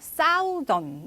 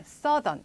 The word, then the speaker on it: southern: southern이라고 발음했는데 자 여러분들 요거 간혹 가다가 보시면요 southern 이렇게 발음하시는 분들이 간혹 계세요. 그런데 요거는 southern 이렇게 발음이 되죠. TH도 여러분 여기에서는 소리를 제대로 내주셔야 되겠습니다.